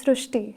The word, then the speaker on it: Srishti: So in Marathi, the word Ri is pronounced as Ru. So that is why the pronunciation goes Srishti.